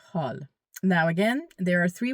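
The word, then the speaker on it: حال: H A W L. It's the best way I can uh write it out for you guys. You can pronounce it. Hal.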